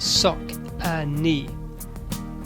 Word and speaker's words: Saucony: The name Saucony is pronounced Sock-a-Knee.